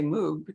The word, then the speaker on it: Moog: thought about saying that you know mo like rogue but and i thought if i don't say moog nobody's really good that's